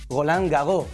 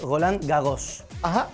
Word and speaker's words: Roland Garros: francés y le dije me imagino que es golán gago porque yo no pronuncia en la s final me dijo no es roland garros no habiendo una cosa